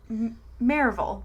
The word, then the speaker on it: Maryville: live in tennessee where we pronounce things like the way you would not expect people to pronounce like marvel but if you read it it's like maryville but it's like no we don't pronounce it like that so it gets complicated